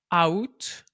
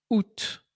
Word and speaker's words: août: août parce que évidemment c'est un mot qui ne se prononce pas du tout de la manière dont il est écrit. Donc on ne prononce pas août mais bien août.